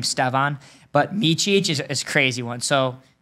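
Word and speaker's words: Mićić: one so it's really easy to say meich okay because it's like the C's just have the little CH on them they just don't have it in English like that so that's how you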